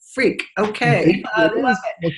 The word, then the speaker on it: Freke: F-R-E-K-E, pronounced freak.